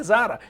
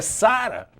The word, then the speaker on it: Zara: melhores shoppings Zara e todo mundo fala Zara não é Zara é Sara então colocasse entre parênteses